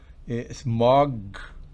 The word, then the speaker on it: smog: Palabras como smog, recuerden, no es smog, no, es smog. Me ahogo si no abro intencionalmente. Es así, es bloqueada. Es bloqueada.